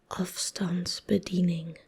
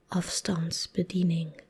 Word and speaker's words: afstandsbediening: I don't know if it's similar in any Scandinavian, Nordic languages or German, to be fair, but this is afstandsbediening. Afstandsbediening.